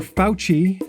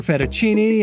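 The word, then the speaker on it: Fauci: was our mistake second it's pronounced doctor pouchy not doctor fettuccine and certainly not dick faucet so we apologize for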